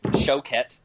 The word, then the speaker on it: Choquette: TJ Choquette, as I was corrected in the pronunciation of his last name.